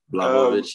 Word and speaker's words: Blachowicz: I hope I got his surname right, because it's been a nightmare trying to figure out how to pronounce it. Blachowicz, yep.